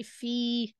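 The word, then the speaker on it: في: Tidak menyebutnya fa ya, tapi fi langsung disebut seperti itu.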